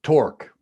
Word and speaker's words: torque: so tonight we are talking about torque rhymes with fork or spork or cork if you've just popped a bottle